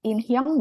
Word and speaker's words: 인형: Di kamar saya ada inhyong boneka bukan Sam? 맞아요. 인형 boneka. 인형이야, teman-teman bacanya. Inhyong. 네, haknya nggak usah dibaca ya.